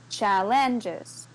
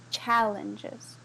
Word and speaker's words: challenges: Then maybe she says, challenges. And I said, no, challenges. Con un énfasis en la primera sílaba.